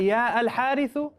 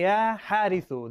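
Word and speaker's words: يا حارث: Do you say Ya Al-Harithu? La. You say Ya Harithu. The alif and lam gets dropped whenever harfun nida, whenever the ya is brought in.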